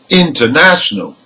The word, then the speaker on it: international: look at some examples number one international now the primary stress is the third syllable from the end because it ends in a L okay but the secondary stress is on the prefix in let's hear it again international let's now listen to